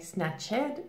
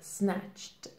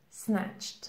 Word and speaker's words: snatched: as being snatched snatched now notice here pronunciation we do have an ed ending but we don't say snapchat this is incorrect here the correct pronunciation is snatched snatched we have the t pronunciation snatched so you could use